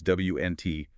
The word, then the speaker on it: Wnt: That's WNT, pronounced Wnt.